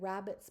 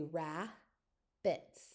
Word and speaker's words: rabbits: like when we said rabbits before, we don't say rab-bits. When we speak, we say ra-bits. And it just pops that B over to the next syllable.